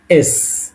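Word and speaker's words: с: এর মত দেখতে কিন্তু এটাকে আমরা পড়ব কি এস এস এস উচ্চারণ হবে দন্তস এর মত ওকে তাহলে 19ম্ব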